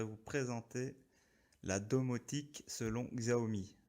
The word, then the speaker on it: Xiaomi: présenter la domotique selon xao me xiaomi pour ceux qui veulent prononcé à la chinoise moi je dirais xao me vouvoyer devant moi donc